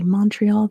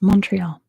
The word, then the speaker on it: Montreal: They don't pronounce the T in Montreal, but here in the US we say Montreal.